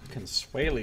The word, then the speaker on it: Consuela: and he says that Consuela Consuela is how you pronounce that I found the